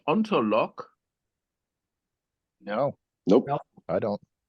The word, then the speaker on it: Ontolog: And so they started the Ontolog group. And that was the Oh, ontolog. ONTOLOG. I thought you said LOCK.